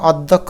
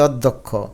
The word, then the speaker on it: অধ্যক্ষ: হবে অশিক্ষিত এটাকে আমরা অধ্যক্ষ বলি না বলে অধ্যক্ষ অর্থাৎ অ কে একটু ওর মত উচ্চারণ করি এজন্য ও দিবে ধলা আছে না এটাকে দ আর ধকার লিখতে হবে কারণ অধ্যক্ষ এটার উচ্চারণ হচ্ছে অতপর